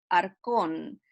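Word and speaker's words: ἄρχων: reyes de la tierra la palabra arcón así se pronuncia en el griego en la ch también aquí es diferente al español x sería la palabra ar con denota a alguien que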